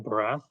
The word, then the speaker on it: Bharath: So, yeah, my name is Barath. So, you nailed the pronunciation, Joey.